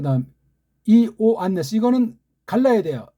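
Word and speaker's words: Ἰωάννης: 그 다음 이, 오, 안네스 이거는 갈라야 돼요. 이건 이중모음이 아니에요. 이, 오, 안 그렇죠? 네스 이, 오, 안네스 그렇게 읽어지게 요라고 읽으면 안 돼요.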